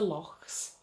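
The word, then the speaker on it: loch: would call a lake it's spelt L o CH but you say the CH with a sound it's very much like with Hebrew when you say la hang or higher and that's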